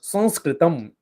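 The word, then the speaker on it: संस्कृतम्: Shantihi in Sanskrit or Sanskritam. Sanskrit in Sanskrit, how it's said is Sanskritam.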